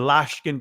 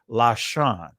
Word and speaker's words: Lashon: them in Hebrew and Lashkin Kodesh. Now that's a Yiddish, that's a Israeli pronunciation, but what this is saying holy language, because Lashkin, right? That is supposed to be Lashon.